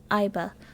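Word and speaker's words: Aiba: I already forgot how to pronounce her name. Iba.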